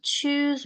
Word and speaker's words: choose: 중요한 얘기는 다 앞에서 한 것 같고 어쨌든 choose my instruction. choose 할 때는 입술이 이렇게 나오죠.